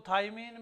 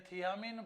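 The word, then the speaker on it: thiamine: लोग इसको थाइमीन भी बोलते हैं, लेकिन ओरिजिनल में ये थियामीन पायरोफॉस्फेट।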